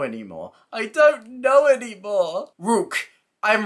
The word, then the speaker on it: Ryuk: I'm slightly wrong Luke it wasn't ryuk because I pronounced it as ryuk before in like the Weekly News Recaps and that was wrong it wasn't right it was like wook because that's how they said it in the show they didn't print out